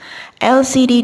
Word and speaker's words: LCD: LCD di sini huruf pertamanya adalah L atau konsonan, tetapi suara yang digunakan adalah huruf vowel L.